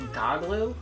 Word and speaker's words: Goglu: I say that because the main character's name is, I think it's pronounced Goglu. It says, look at that, Goglu.